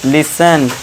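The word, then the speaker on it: listen: अब देखिए टी टी के बाद इ एन आ गया तो यहां टी साइलेंट। इसे क्या पढ़ेंगे? लिसन।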